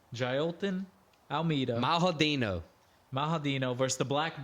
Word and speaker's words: Jailton: How do you say his first name? Jalton? I listened to Daniel Cormier say it today. Jailton.